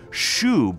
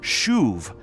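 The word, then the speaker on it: שׁוּב: And that actually goes perfectly with today's chapters, Hosea 6 and 7, because the Hebrew word shub, or you might pronounce it shuv, is used four times in these two chapters.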